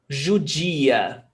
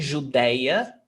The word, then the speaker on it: judia: Judeu, judia. I've seen some Brazilians saying Judeia, as in ateu, ateu, ateia, judeu, judeia. Bang, wrong. Judia, certo?